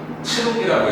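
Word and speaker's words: 剣: 근데 이거 뒤에 가면 뭐라고 읽어? 치루기라고 읽어. 치루기. 걔네식으로. 앞에 오면 뭐라고 읽어? 캔이라고 읽지. 한자식으로 읽어가지고.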